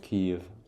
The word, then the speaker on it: Kiev: Ouais, tu le prononces bien s'il te plaît. de Kiev Kiev Voilà.